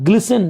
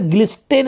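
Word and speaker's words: glisten: एंड ग्लिसन, देखिए यहाँ पे ग्लिस्टेन नहीं पढ़ेंगे, देखिए एस और टी जब एक साथ आता है ना तो यहाँ पे एस हम पढ़ते टी को साइलेंट कर देते हैं, जैसे लिसन आप लिखते हैं लिसन, लिस्टेन नहीं पढ़ते हैं, यहाँ टी का उच्चारण नहीं होता है।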